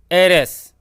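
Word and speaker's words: heiress: वैसे ही एयर अर्थात उत्तराधिकारी, इसमें जो एच साइलेंट है ना, तो ये बन जाएगा एरेस।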